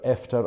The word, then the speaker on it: Efter: And I think I've got Efter or After in the vernacular to get the pronunciation right.